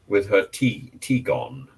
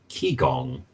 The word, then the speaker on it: Qigong: But I think she was also wrong with her T-gong. And Anthony is saying it's spelled Qigong, T-gong, Qigong, Qigong.